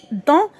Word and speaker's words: dans: Regardez bien عندي هنا on en dans. إذا كنطقوها dans.